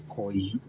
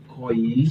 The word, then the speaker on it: Koyi: Okay, Pronunciation is Koyi. Koyi.